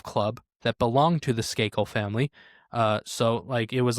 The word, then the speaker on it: Skakel: Skakel.